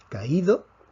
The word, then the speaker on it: caído: un acento de hiato tomemos la palabra caído la fuerza cae sobre la aquí vemos que tenemos una secuencia de abierta con vocal cerrada la fuerza cada vez sobre la vocal cerrada automáticamente tenemos que escribir